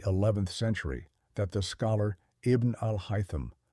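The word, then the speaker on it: Ibn al-Haytham: It was not until the 11th century that the scholar Ibn Al-Hyam, pronounced Iben Al-Hyam, working in Cairo, systematically destroyed the visual ray hypothesis.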